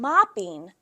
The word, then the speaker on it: mopping: Moping and mopping, same exact thing, but the vowel sound changes, right?